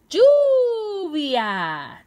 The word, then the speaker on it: lluvia: a pensar en una palabra que tenga la sílaba you tú i yo sé lluvia lluvia rain en inglés se dice lluvia doble